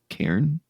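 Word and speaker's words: Cairn: looks gorgeous though uh I still don't know how to pronounce it k c a i a i r n karen yeah then you got it uh that's the the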